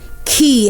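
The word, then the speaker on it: quay: The same way you say the key you use every day is the same way you say this one.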